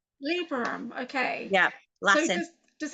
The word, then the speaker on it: Librorum: Librorum, how do you say that? Librum. Librorum.